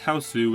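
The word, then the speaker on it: Hausu: House, pronounced Houseu, is a Japanese horror film from 1977.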